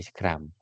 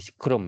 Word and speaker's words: scrum: Lah nanti tiap hari itu ada namanya daily scrum. daily scrum ini eh daily scrom ya bukan scrum bacanya scrom daily scrom ini nanti